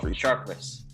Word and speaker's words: Sharpless: how do you, what's the actual pronunciation? Just, Sharpless. Sharpless. Yeah, it makes no sense. I know. Because it's like saying apples is appless. It's just wrong.